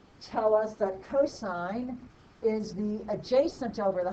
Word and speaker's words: cosine: first three letters but it is not ever sin or cos it is always pronounced sine and cosine even when we just